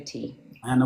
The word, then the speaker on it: Tanna: It's like Anna with a T. Anna with a T.